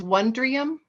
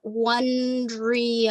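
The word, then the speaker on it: Wondrium: sign language and again you said that was one dream yes and it's on YouTube it's on so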